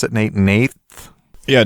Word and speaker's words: Nath: Nate also has a, how do we pronounce it, Nate? Nath? Yeah, Nath of the Gilt Leaf, Elf Tribal.